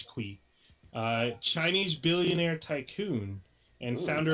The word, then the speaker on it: Qi: So I believe his name is pronounced Lin Kui. It's Q. His last name is Qi. I believe it's Kui.